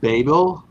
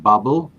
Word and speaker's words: Babel: It's called Babel, not Bubble.